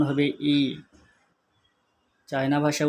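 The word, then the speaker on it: 一: Bangla 1, China ভাষায় উচ্চারণ হবে ই।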